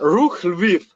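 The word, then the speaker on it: Rukh Lviv: Rook Live. If I'm saying that right, you'll say it right. Rook Live. Yeah, Rook Lviv. Yeah. Lviv. Yes.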